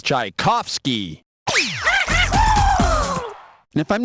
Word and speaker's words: Tchaikovsky: rhyme with i can't the pronunciation for this famous russian composer is tchaikovsky and if i'm not